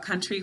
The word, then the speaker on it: country: And I think the tricky thing about country, when I've taught it before, we want to remember the first syllable is kun. All right, we don't want to leave off that n.